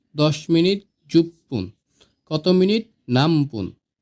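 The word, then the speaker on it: なんぷん: এবার আসি, প্রশ্ন যদি করি কয় মিনিট বা কত মিনিট, তাহলে হবে নামপুন। লেখার ক্ষেত্রে হবে নান পুন, কিন্তু এটার হবে উচ্চারণ হবে নামপুন।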